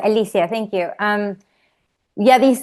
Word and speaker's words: Alicia: Yeah, it's Alicia.